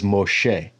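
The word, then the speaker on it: משה: here about Moses well that's not how you say his name his name in Hebrew is Moshe but when I say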